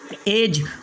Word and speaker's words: edge: इसके बाद में सातवां रूल है हमारा, जब डी के बाद जी आ जाए तो डी के बाद क्या आएगा? जी आएगा तो डी साइलेंट होगा। जैसे पहला वर्ड प्लेज, यहाँ डी को नहीं पढ़ना है।